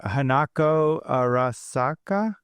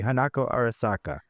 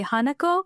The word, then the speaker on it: Hanako Arasaka: How should I say it more smoothly? Hanako Arasaka. No, you're saying it correctly correct. Um, the English the English the American way would be Haneko that I hear a lot. You But no, Adam, you you got it right.